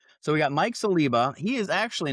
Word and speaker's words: Saliba: How do you pronounce it? Celiba or Celiba? Celiba. Okay. So, we got Mike Celiba.